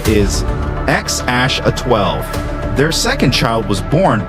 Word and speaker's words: X Æ A-12: Musk has said the intended pronunciation is X Ash A-12.